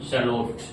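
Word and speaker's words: shallot: तो इसकी स्पेलिंग मैं लिख देता हूं। एस एच A double L ओ टी शलोट शलोट पढ़ेंगे।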